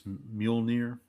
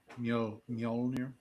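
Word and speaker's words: Mjölnir: Molir. Originated from old Norse. Often simplified to two syllables. Mule and near.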